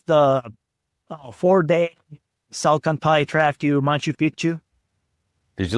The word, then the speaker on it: Machu Picchu: really good meals, and they do teach you to say Machu Picchu, not Machu Picchu, because Pichu in Spanish and in Quechua it's kind of similar, but if you mispronounce it, Pichu is similar to a word that means dick.